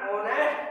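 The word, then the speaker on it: honest: जैसे देखिए एन ऑनेस्ट person, इसमें आपकी एच यहाँ पर साइलेंट है, लेकिन आप जब इसको बोलते हैं तो स्वर की ध्वनि आपकी निकलती है, तो इसी वजह से आपने यहाँ पर एन का प्रयोग किया है।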